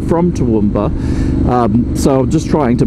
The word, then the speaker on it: Toowoomba: I say it like that because that's what the locals say, and I'm not from Toowoomba, so I'm just trying to blend in.